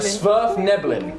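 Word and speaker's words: Svirfneblin: Smurf Nibblin is the correct pronunciation.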